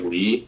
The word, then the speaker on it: Lee: Mine is Lee, but there is no L in the Korean pronunciation. Huh. It's just E.